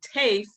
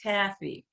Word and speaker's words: TAFE: My default is to say TAFE, but it's actually pronounced Taffy. So, so we do again thank Taffy Theater Arts for Everyone.